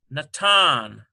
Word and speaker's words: Natan: Okay, here is Noon, Na, A sound, T, A sound, Nata, ends with an N, Natan.